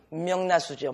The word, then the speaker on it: 멱라수: 니은 이런 여러 가지 어쨌든 최종 발음은 뭐예요? 그러면은 명나수죠. 명나수. 명라수지만 쓸 때는 멱라수에 몸을 던져요.